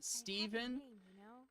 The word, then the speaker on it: Stephen: Uh Steven, this is a thing in America. We don't we we will often pronounce the ph as a v because we don't treat the ph as a fu even though I know in Europe you guys do.